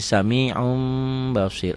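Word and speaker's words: سميع بصير: ketemu ba Samiun Basir Samiun Basir itu dibacanya jadi samium Basir apa hukumnya iqlab Kenapa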